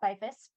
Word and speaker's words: Beyfuss: name since it doesn't it is not pronounced exactly how it's how it looks and social media website all that good stuff so pretty much everywhere I'm byfist so I have my